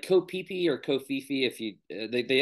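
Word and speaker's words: Koh Phi Phi: go to places that like a path like kopipi or kofifi if you they actually say kopipi instead of kofifi but it's have you ever watch the movie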